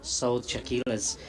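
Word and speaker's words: Saud Shakeel: we'd sell the uh sold chaquillas as I was uh corrected this morning is how he'd like to name be pronounced um but so Soldier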